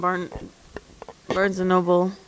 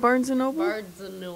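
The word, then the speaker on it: Barnes & Noble: want to go to Dave and Buster's and barn es Noble how do you say that Barnes Noble okay what's wrong I thought you said Barnes and Noble Barnes and Noble Barnes and isn't it Barnes and Noble all birds is that everything no so um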